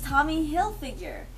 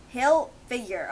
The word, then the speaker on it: Hilfiger: I got a rock oh it's Tommy Hilfiger how do you cross it he'll figure okay yeah it's not I've been saying Higgy filler okay but yeah